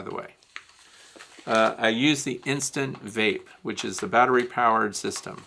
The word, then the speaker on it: Instant Vape: I also have the ProVap, which is Vapor Vape, I don't know, but it's, you'll hear people say Insta Vape, it's Instant Vape.